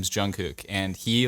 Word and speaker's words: Jungkook: try to say it it's young young cook young do you know what i'm talking about maybe jungkook yes not young i don't know why